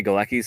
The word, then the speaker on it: Galecki: they do get into it when um Johnny galecki's scene and that's that's about it yeah so